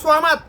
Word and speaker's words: সামাদ: তবে এখানে উচ্চারণ হবে সামাদ, 8টি হরফে আকার নাই, তার মধ্যে একটি হলো সোয়া। সোয়ার উপর জবর হলে সা হবে না, সোয়া হবে।